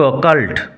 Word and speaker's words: occult: Irish legends and the occult. Fascinated, মুগ্ধ, আকৃষ্ট, captivated, noun form হয় fascination। উচ্চারণ হবে অকাল্ট। অ্যাডাল্ট যেরকম উচ্চারণ হয় সেরকম হবে অকাল্ট।